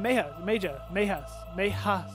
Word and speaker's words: Meja: Floor 7, Meja's memory, because the J is pronounced as a Y.